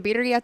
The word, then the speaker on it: birria: The birria tacos right there.